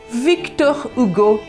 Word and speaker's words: Victor Hugo: próprio autor, Victor Hugo, ou na pronúncia em francês, Victor Hugo, que sonhou, almejou e criou uma obra imensa.